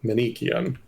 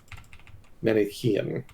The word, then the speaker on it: Manichaean: So apparently I was mispronouncing Manichaean. I was pronouncing it Manichaean, so my mistake. Or Manichean, that's okay. I was saying Manichean, but the correct pronunciation is Manichaean.